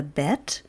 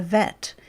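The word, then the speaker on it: ב: by the fact that we have the bet and the vet it's the same consonant it's is pronounced in two slightly different ways depending on whether is that there's a de guiche or nots similarly cuff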